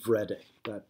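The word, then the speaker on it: Wrede: German scholar named William read a that W is pronounced like a V in German and he came up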